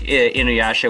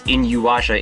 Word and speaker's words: Inuyasha: demons like like Inuyasha which I always constantly pronounce inua in my head will turn human for a period of time I'm sorry no it's fine cuz I I remember in high school when I was first introducing people to this people kept saying inua or inha and I'm like please pronounce it right there is a clear